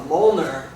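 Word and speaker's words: Mjolnir: is uh called a molner. And uh it's spelled very weird. It doesn't uh it's not phonetic. It's M J O L L N I R.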